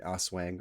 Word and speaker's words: Aswang: I'm pronouncing this correctly it's as SW n g Aswang awang I think is what it is SW is an umbrella